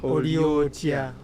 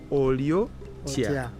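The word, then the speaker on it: Oli otya: Oliotia. Oliotia.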